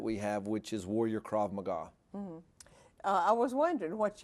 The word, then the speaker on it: Krav Maga: And now this Krav Maga, if I'm saying it right, Krav Maga.